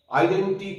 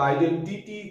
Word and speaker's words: identity: আইডেন্টি card বলি আমরা, ওটা আইডেন্টিটি কার্ড, আইডেন্টি এরকম ঠিক নয়, আইডেন্টিটি, টিটি, ঠিক এই জায়গাটায় আমাদের ভুল হওয়ার সম্ভাবনা থাকে।